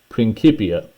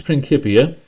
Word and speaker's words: Principia: is in Latin and Latin didn't have a soft c sound the c was sounded like a k so that's why i'm pronouncing it that way okay so Newton's Principia which was researched in